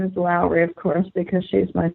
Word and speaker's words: Lowry: and I'm amused because the Germans have a difficult time pronouncing her last name with its W, which they want to say is V.